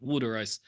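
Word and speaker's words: wooder: water ice identity was spelled w o d r the way it's pronounced wood ice yeah hogis I think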